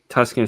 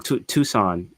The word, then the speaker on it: Tucson: Tuscan said, I keep saying it wrong. Tucson.